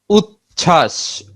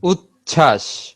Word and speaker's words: উচ্ছ্বাস: যুক্ত ব্যঞ্জন মানে কি, একাধিক ব্যঞ্জনের সাথে যদি ব ফলা যুক্ত হয় সেক্ষেত্রে ব এর উচ্চারণ থাকে না। যেমন উচ্ছ্বাস, উচ্ছ্বাস, উজ্জ্বল, উজ্জ্বল, তাত্ত্বিক।